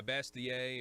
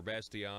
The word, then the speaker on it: Bastiat: Yeah, Bastiat or Bastiat.